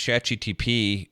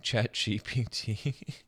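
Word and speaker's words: ChatGPT: I saying it right am I saying chat GPT I just want to make sure here because I know I said it okay because I was saying chat GTP in another video and people were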